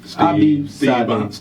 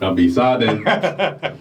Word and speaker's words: Abi Sade: You gotta say it right, Reg. What? Peace I did. Abi Sade. See, I should. You gotta sing it. You gotta sing it. Oh man, his name is his theme music.